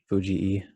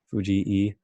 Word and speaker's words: Fujii: much saying you know it is Fuji II as we like is saying playing on that left still is that how it's supposed to be pronounced you know like my pronunciations Fuji II there are two eyes it sounds really funny